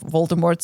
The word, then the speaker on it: Voldemort: Oh, this is a side note, but in the full cast audio that I have, they always pronounce it en français, Voldemort.